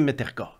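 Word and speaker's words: Mrtka: buzz autour de Radim Mertka. Comment? Répète donc le nom. Mertka. Radim Mertka. Mertka. Mertka. Mertka. M-R-T-K-A. Okay. Mertka, on prononce comme s'il y avait un E.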